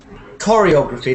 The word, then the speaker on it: choreography: But my chair Choreography. This is one of those Italian words which has the ch as a k. So it's choreography.